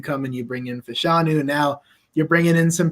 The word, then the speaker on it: Fashanu: Don't ask me how to say the rest of his name, but not Fanash. Fashanu? There you go.